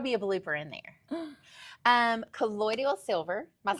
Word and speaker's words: colloidal: Colloidal. Colloidal. Guys, we don't know. I say Who's that? How to colloidal.